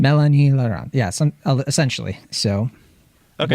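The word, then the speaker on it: Mélanie Laurent: up and I think the way you pronounce her name is Melanie laurant Melanie lant Melanie lant yeah some essentially so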